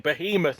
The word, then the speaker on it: Behemoth: complaining that Dara is saying Behemoth instead of Behemoth. It's how they say it. It's both pronunciations are acceptable.